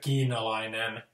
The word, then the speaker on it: kiinalainen: So, because like the word kiinalainen, kiinalainen, it's not keen al-ainen. I mean, like Finnish people would think that keen al-ainen, it would sound really strange. So like we like the kiinalainen.